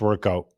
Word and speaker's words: WRKOUT: So still pronounced workout.